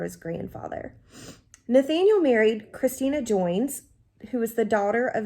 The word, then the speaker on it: Joines: The Joines family, that Joines is spelled Joines, so not Jones, but Joines.